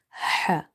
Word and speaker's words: ح: Ain and ha. In order to pronounce this letter ha, try opening the mouth wide and exhale the air out.